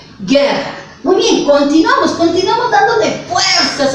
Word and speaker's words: guerra: Obviamente, guerra, ¿no? Entonces ya nosotros estamos... Ahí está, guerra. La G-U-E se pronuncia G y tiene mayor fuerza de voz, guerra.